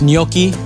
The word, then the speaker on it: gnocchi: again yeah look at that little Italian dumplings pronounced gnocchi if you're ever in the restaurant ordering them